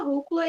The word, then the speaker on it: rúcula: Gostaria de saber o motivo de tanta rúcula e cará no meu prato. Ah, funcionou. Então, beleza. O acento é esse mesmo, é esse porquê mesmo. Rúcula, também, a gente tem a sílaba tônica sendo proparoxítona.